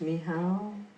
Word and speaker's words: Michał: So Michael, the word is Michał.